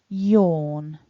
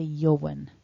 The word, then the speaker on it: yawn: yawn now top tip it looks like there's a w in there but that a and w together is what gives us the or vowel so don't try and pronounce a wha in this word don't say johan that sounds um a little funky so the a and the w is represented by an or vowel in the word yawn don't forget to